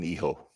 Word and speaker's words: Hijo: There's a silent H in Hijo.